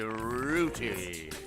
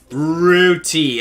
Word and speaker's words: Rooty: You've unlocked Auntie Rudy. Rooty. I get it, like a root. So I've been saying it wrong this whole time.